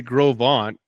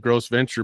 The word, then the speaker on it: Gros Ventre: And people, in fact, Todd, our managing editor, goes, "You people in Wyoming, you say Gros Ventre instead of Gross Venture, but you say Dubois or DuBois instead of Dubois.